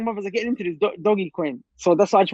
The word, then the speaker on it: Dogecoin: Well, the apparently the correct pronunciation is Doggy Coin, but some call it Dogecoin.